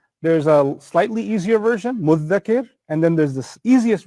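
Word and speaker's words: مدّكر: So what the Arabs do is they fuse them and they say there's an easier version of it, muddhakir, which is a shadda on the dhal. But then even the dhal is hard to pronounce because you have to stick your tongue out. So what's the easiest version of it? Muddakir. Muddakir. So the dhal becomes a dal.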